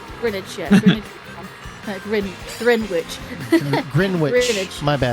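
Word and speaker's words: Greenwich: No. Yeah, it's Grinidge. Grinidge meantime. It's Grin. Well, we sort of pronounce it Grinage or Grinidge. Yeah, like spinach. Spinach.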